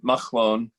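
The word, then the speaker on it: Mahlon: loan is actually a cut so we would pronounce it must loan it's the same letter that's the beginning of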